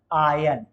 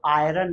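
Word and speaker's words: iron: बोल ये आई आर लेकिन ये आर साइलेंट रहता है इसका जो उच्चारण होता है वो उच्चारण होता है इसका आयन इधर देखेंगे प्लीज आयन क्या होता है ये आयन तो आयरन नहीं बोलेंगे आयन क्या हो जाएगा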